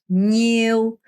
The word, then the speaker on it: nhiêu: bao nhiêu, 니우 안 돼요. 니우 안 되고요. 냐. 혀가 이렇게 천장을 이렇게 쓸면서 nhiêu 이렇게 발음하셔야 돼요.